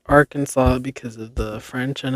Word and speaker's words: Arkansas: Yet the unanimous pronunciation of Arkansas by native Arkansans and interlopers alike is Arkansas. So much for adhering to the letter of the law. Very interesting. So basically, it's pronounced Arkansas because of the French and Italians, I guess,